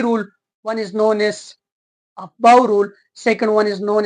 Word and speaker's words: Aufbau: ये जो अफबाउ, इसको प्रोनाउंस ऐसे किया जाता है, देखो, ओ एफ ऑफ, बी ओ डब्ल्यू, बो, अफबो, अफबो। ठीक, ये जो अफबो है ये एक जर्मन वर्ड है, और इस